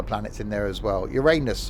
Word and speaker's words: Uranus: in there as well uranus we can't talk about that um or uranus as it's probably pronounced supposedly correctly where is this first